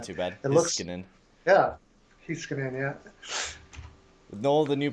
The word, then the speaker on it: Heiskanen: Why is his name pronounced like that? I don't know. I always say Huskinainen. Or Hiskinen. No, it's Heiskanen. Heiskanen? Heiskanen. Yeah, it's actually easy to say.